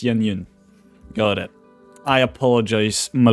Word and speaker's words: Yun: It's not Shyun, it's Yun.